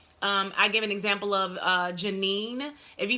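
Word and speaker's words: Jah9: She pronounces her name Janine, J-A-9.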